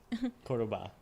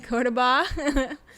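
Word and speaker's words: Córdoba: We're planning to actually tomorrow fly to, I always say this name wrong, can you help me? Cordoba. Cordoba, which is another city in Argentina.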